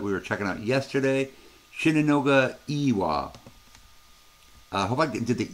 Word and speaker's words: Shinunoga E-Wa: were checking out yesterday, Shinunoga Iwa. I hope I did the E long enough. I use Google Translate for this stuff, guys. So, Shinunoga Iwa is how it says to say it.